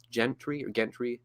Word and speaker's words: Gentry: There's also many books by Kenneth Gentry, that's how you say his name.